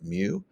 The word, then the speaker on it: mu: little symbol here's this Greek symbol it's it's pronounced mu so the coefficient of friction mu is basically